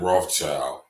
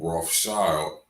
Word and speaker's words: Rothschild: And in German, you pronounce red, Roth, and shield is Schild. So Rothschild, red shield.